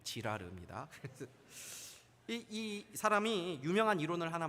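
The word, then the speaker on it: Girard: 하는 프랑스 철학자가 있습니다 발음을 조심해야 됩니다 지라르 이이 사람이 유명한 이론을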